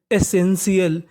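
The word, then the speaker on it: essential: TIAL को हम लोग इंग्लिश में पढ़ते हैं शियल, क्या पढ़ते हैं, शियल, यानी आपको इंग्लिश में कहीं पर TIAL लिखा मिले तो उसका उच्चारण करना है शियल, और यहाँ पे हमारा S 2 बार है तो S का उच्चारण कितनी बार करना है, एक बार, तो meaning ESSEN, SN, TIAL, शियल, एसेंशियल, एसेंशियल।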